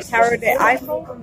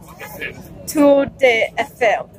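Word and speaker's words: Tour Eiffel: the Eiffel Tower, or Tower de Eiffel, I think is how you pronounce it, right? Tower de Eiffel? Tour de Eiffel. Okay.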